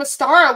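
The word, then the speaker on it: Ostara: experience where I was learning about the goddess Astara. And Astara, obviously, you know, she's part of this whole Easter pagan ritual that we do. And the name Astara would not leave my subconscious.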